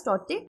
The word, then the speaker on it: Tauktae: It has been actually named as Tauktae, T-A-U, pronounced as Tauktae, and it is named after a gecko lizard, which is a vocal lizard in the Burmese language.